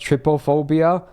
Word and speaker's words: trypophobia: let's just say I have a phobia called, I think it's pronounced trypophobia.